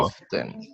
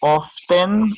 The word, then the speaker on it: often: Often. Ajá. Pueden pronunciarlo often o pueden pronunciarlo often, como si la T no estuviera. Ambas son correctas, como usted quiera hacerlo, ambas son correctas.